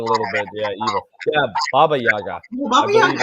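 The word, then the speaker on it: Баба-яга: I think it's called Baby Yaga. Have you heard of Baby Yaga? not a baby Yaga. Dr. Baba Eric. Yaga. Sorry, Baba Yaga.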